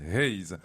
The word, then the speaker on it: Hayes: En fait, ça se prononce Hayes.